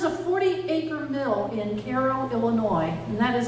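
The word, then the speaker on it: Cairo: barns there was a 40 acre Mill in Carol Illinois and that is how you pronounce it anyone ever heard of Carol Illinois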